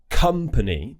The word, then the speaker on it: company: However, the syllable on the word company is stressed. So that's why we're using an sound and not a schwa sound.